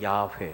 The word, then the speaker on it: 여호와: 하나님은 이름이 c 자 여호와 여호와 가 그분의 이름이 지나야 외에 여호와 발음을 야해 라고도 하죠 여호와는 우리 하나님의 이름이